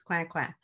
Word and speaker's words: Coinquin: But the woman in this story represents an African woman whose name was Marie-Thérèse Coinquin, which looks like coin, but in French it's Coinquin.